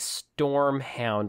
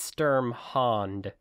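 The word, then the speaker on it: Sturmhond: like i don't know it does sound like stormhound like the first couple of times i read it i thought that actually might be what it said but no it it's sturm hand sturm hand yes well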